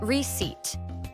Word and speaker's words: receipt: Number 11, receipt. A receipt is a paper you get after buying something. Ah, silent letters. Yes, the p is silent. So, it's receipt.